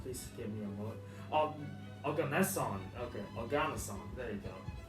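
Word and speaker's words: oganesson: In 2002, Russian scientists found our seventh element, Ogasi. Oh, oh god, I can't pronounce this right. Please give me a moment. Organeson.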